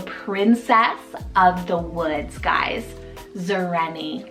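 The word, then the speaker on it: Xareni: I have Zareni, spelled X-A-R-E-N-I, Zareni. This one's a completely modern invented name, meaning a princess of the woods, guys. Zareni.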